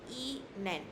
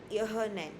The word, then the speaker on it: Ihnen: It is uh Ihnen, like written here, Ihnen. It's not Ihnen. You do not pronounce the h. H is very soft, okay?